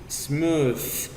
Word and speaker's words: smooth: Smooth. Ese sonido no se pronuncia así. Es smooth. Vean por favor la fonética. Smooth. Es una D.